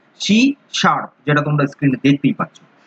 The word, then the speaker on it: C#: এই যে শি হ্যাজ, এই হ্যাজ এর যে প্রোনাউন্সিয়েশন সেটার নাম হচ্ছে শার্প, শি শার্প, যেটা তোমরা স্ক্রিনে দেখতেই পাচ্ছ।